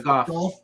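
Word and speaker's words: Gough: It's Michael Goff or Go, or how do you pronounce that? Goff. Yeah, Goff.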